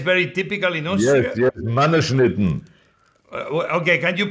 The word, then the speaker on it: Mannerschnitten: Yes, Mannerschnitten. Okay, can you pronounce again?